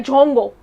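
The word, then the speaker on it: 中国: लेकिन जो Chinese language है उसमें जो नाम है वो है जोंगो।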